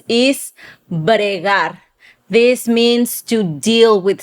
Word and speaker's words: bregar: So that is bregar or bregal.